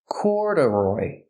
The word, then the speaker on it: corduroy: it mean corduroy pronunciation corduroy the stress is on the first syllable corduroy and a secondary stress on the third syllable corduroy so the second